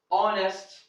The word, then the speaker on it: honest: no rule number two rule number two H is not pronounced at the beginning of many words there are some words H is not pronounced at the beginning and especially with words that are from a origin or French origin for example here we have our honest owner you can see here that this word has or have the origin of French origin they are not English